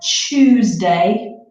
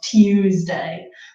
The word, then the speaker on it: Tuesday: very formal to say usually when we have word beginning with tu then it becomes becomes chew sound that II thought you will also recognize from the day of the week we have a Tuesday and not Tuesday because it's very difficult to have that tear sound so we make it simpler to say Tuesday that's similarly this shoe